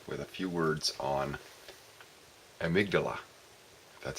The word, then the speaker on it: amygdala: again Steve here with a few words on amygdala that's how it's pronounced there's apparently two little almond shaped nerve